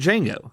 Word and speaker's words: Django: a young slave named Jango the D is silent and his partner in crime a german bounty hunter named dr.